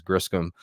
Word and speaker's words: Griscom: My last name is Griscom.